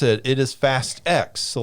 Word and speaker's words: Fast X: But it doesn't, when they pronounce it, it is Fast X. So like in all the marketing and everything, they did not pronounce it as Fast 10. They pronounced it as Fast X.